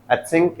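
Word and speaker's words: think: eight सिंक ठीक है तो थोड़ा स और थ ऐसा मिला हुआ होता है अथिंक ऐसा बोलते हैं तो लेकिन आप हिंदी की तरह याद रखना थ मतलब थिंक थिंक वगैरह में मत जाना थिंक ऐसा बोलना है नहीं तो आप सिंक बोलोगे ना वो सिंक समझेगा तो मैं डूब जा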